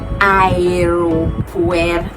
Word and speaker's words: aeropuerto: In Spanish, every letter has to be pronounced. So it is spelled A-E. Let me just pronounce it. It is pronounced aeropuerto. So aeropuerto.